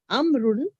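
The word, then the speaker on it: عمرو: and those brown woman the proper name Amun is written written with a wow which is not pronounced this is done to differentiate it from the umaru yeah so there's two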